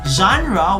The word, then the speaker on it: genre: the philippines genre geronimo genre when we say genre others pronounce it as gender that's that's wrong okay genre simply is